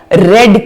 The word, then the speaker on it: read: देखो इसको प्रोनाउंस जो है पास्ट टेंस में रेड किया जाता है, जबकि इसकी जो स्पेलिंग है वो रीड जैसी होती है. तो when it is present tense we will say रीड, when it is past